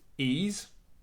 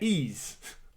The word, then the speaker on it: Ys: So, according to Reddit, where you get all the hardened facts, it's pronounced ease. Long E sound, hard S. The best description ever, like the word geese without the G. Yeah. Ease.